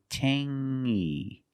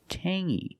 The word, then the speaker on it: tangy: We have the same sound. It's the nasal sound only. Tangy. Tangy. It's not tangy. It's tangy.